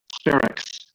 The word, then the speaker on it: Spherix: Spherix.